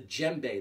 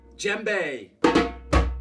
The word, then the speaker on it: djembe: this is a wonderful instrument known as the djembe that's spelled d j e mb e djembe this